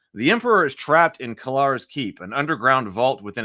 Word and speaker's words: Kellar: and somebody was like, it's supposed to be Cellar, like Cellar, but Kellar. But that always sounds weird to me. We already said Kellar's Keep. So, well, Cellar with a hard C or whatever.